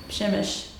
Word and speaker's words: Przemyśl: We are in Przemyśl. There's like a P that you pronounce in front of it, and I can never get it right.